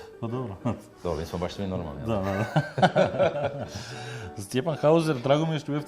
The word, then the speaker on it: Stjepan: Oh, you will not believe it, as my name is hard to pronounce everywhere in the world. Everyone calls me 'Stejpan', 'Stepjan' this, that, every possible variant. He was the FIRST, of foreigners, who came and said perfectly, 'Hi, Stjepan.'